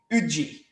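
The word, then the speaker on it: uji: um porridge in kenya i believe is called ujji am i pronouncing that correct it's yes yes yeah and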